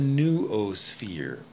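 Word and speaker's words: noosphere: idea that i have of the it's the new o sphere you have to try and spell it it's n-o-o sphere s-p-h-e-r-e new o-sphere um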